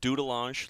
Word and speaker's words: Dudelange: You're from Dudelange Luxembourg. Yeah, I we practiced it before, by the way. That's how I pronounce it. Sounds like it's a French pronunciation, so it's like doodel.